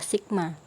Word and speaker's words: sigma: Di situ ada tanda sebelum F, itu bacanya adalah sigma.